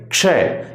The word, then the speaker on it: क्षय: नहीं है, इसलिए क्षय, इसे कहेंगे क्षय। इसे कश मत पढ़ देना, कश नहीं है ये क्या है, ये क्षय। इसलिए इसका उच्चारण आप बार बार दोहराएंगे। क से शुरू करेंगे, क को हल्का लेंगे क्षय और शय को पूरा बोलेंगे तो आपका उच्चारण होगा क्षय। इसके बाद देखिए त्रय कैसे